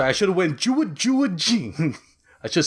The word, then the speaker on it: Jin: I just love how Gene is able to just like Jin. pick apart Mugen. no, it's pronounced He's not Jin. French. Get out of here. Wait, what? It's Jin.